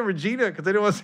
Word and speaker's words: Regina: Regina. If you could spell it in a sentence, please. R-E-G-I-N-A.